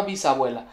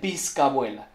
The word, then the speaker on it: bisabuela: Por cierto que la Chilindrina no sabe pronunciar la palabra bisabuela, pues ella dice bizcabuela.